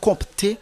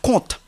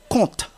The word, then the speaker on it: compte: compt non c'est pas compté c'est compte compte le P ne se prononce pas ce n'est pas compte